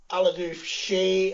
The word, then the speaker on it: Ealadubhsidhe: Well, I am Aladoof She on Twitter. That is spelled EALADUBHSIDHE.